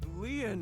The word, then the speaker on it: Lien: My name, Lien, is spelled L-I-E-N.